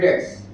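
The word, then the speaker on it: debts: इसका नाम है बैड डेट्स। इसमें बी साइलेंट।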